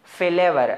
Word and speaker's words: flower: Word is again फ्लोर फ्लोर नहीं है इट्स फ्लावर flower.